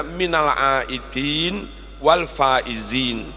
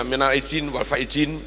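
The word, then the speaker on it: من العائدين والفائزين: juga pakai Zai Nah harusnya bacanya Minal aidin wal faizin Minal aidin wal faizin beberapa kadang pejabat karena awam banget bingung dia Mina izin waf izin ya bukan minalidin wal faizin tapi Minal aidin wal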